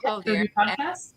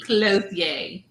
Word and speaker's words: Clothier: But Liz Clothier and Therese and Jo, they just started a podcast called Knit Night. That is N-I-E. Clothier. Clothier. Say it right. Right. I ain't French.